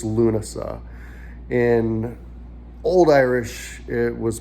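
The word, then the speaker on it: Lúnasa: to pronounce lunasa in in modern irish it's lunasa in old irish it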